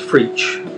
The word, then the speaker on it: FreeEach: My goal is to FreeEach. It rhymes with teach.